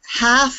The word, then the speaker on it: half: I like to put half on there because they like to pronounce heal and the L isn't pronounced so that's a little